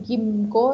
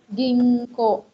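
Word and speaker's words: ぎんこう: 10 imbau jingko Hai kalau ini bukan emapt Ikang ya bukan gimco tapi jinggo jinggo beberapa Jadi huruf ginkgo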